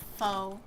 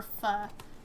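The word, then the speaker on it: pho: I really like foe or fu, depends on how you say it. I always learned it as like foe.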